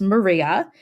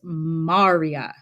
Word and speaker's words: maria: name but is not spelled or it's not pronounced Maria it is pronounced Marya so these are the dark flat areas and